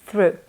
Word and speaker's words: through: Mind the pronunciation of this challenging preposition, through.